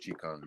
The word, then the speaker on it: Qigong: It's actually pronounced Qigong.